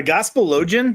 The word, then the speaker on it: Gospelogian: It's a Gospelogian, but just Gospelogian.